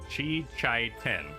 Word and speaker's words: Shichiten: Shichiten. Yeah, you're doing it right.